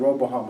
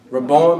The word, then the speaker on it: Rehoboam: They've been sinning, and this is where the story of Jeroboam and Roboam. How do you say their name? Rehoboam and Jeroboam.